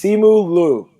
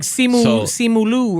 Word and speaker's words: Simu Liu: I think it's Simu Liu.